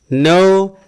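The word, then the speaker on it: know: draw Drew drown menggambar no new noun we pronounce No not k no ya k-nya enggak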